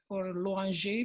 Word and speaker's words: Loinger: And I didn't even know at the time, should I pronounce his last name Loinger or Loinger, which I think is probably the better way to do it in French.